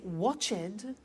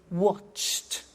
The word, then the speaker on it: watched: T we don't say watch it we eliminate the e and we say watched okay interesting hey so